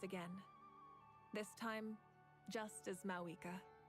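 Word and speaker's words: Mavuika: This time, just as Mawika. Mawika. Thank you for the respect, understanding, and support. The V is silent.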